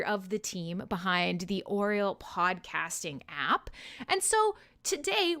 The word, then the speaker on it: Aureal: ugh an ah okay so oriole is how you say it right ron is gonna ron